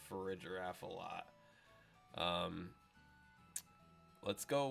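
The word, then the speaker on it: Farigiraf: giraffe and not a graph so I think for a giraffe is how we pronounce it but hey that's just me and because of the name which a lot of people call for a goraf or whatever reason um I think is really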